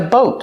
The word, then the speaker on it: boat: But it's a boat also. Boat. Use a long O like know and go. Boat. And a stop T at the end.